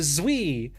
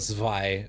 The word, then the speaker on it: Zwei: kinds of agencies, like the Zwei, or the Zwi, or however the fuck you pronounce that, and the combat specialized fixer offices.